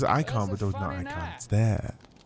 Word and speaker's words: Eikons: They're called icons.